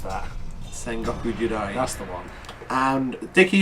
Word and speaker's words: Sengoku Jidai: I've always wondered how you pronounce that. Sengoku Jidai.